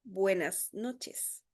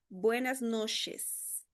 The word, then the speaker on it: buenas noches: Eu acho que esse o comprimento mais difícil de pronunciar pros brasileiros, tá? Buenas noites. Tem variações, sim, tem lugares de Centroamérica que eles vão falar um pouquinho mais puxado. Buenas noches.